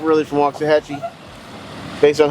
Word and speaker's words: Waxahachie: You know someone's not really from Waxahachie based on how they say Waxahachie. Waxahachie. My sister always says Waxahachie. She got that Spanish little, she can't even say, she don't even pronounce the X.